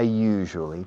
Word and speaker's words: usually: I usually talk to Maria during the programs. La palabra usually se usa muchísimo. Usually. La pronunciación es un poco complicada. You. Es como en francés. Je suis. Je. Usually.